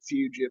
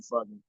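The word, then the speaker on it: Fugitt: I know you really pronounce it fugitive, but I love calling him Adam Fugen.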